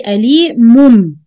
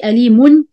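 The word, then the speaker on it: أليمٌ: So I don't say ali mun. I say ali mum.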